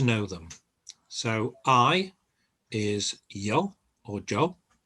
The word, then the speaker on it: yo: them so i is yo or joe often pronounced joe in different parts of spain and throughout latin america pretty much uh u